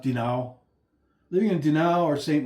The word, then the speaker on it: Dinan: It's spelled Dinan, D-I-N-A-N, but it's pronounced Dinao.